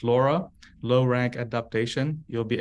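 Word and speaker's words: LoRA: in very specific task is it pronounced Laura is that a yes so Laura what are the four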